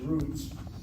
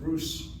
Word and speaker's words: Ruth: Among the Ashkenazim, if the last letter of the Hebrew alphabet does not have a dagesh in it, they pronounce it as an S sound, Rus, Rus. So I know of no Ashkenazi congregation pronounces the matriarch of the phonetic line as Rus. Everybody says Ruth.